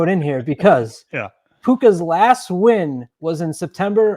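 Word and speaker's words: Puca: Yeah, Puka. I pronounce it Puka.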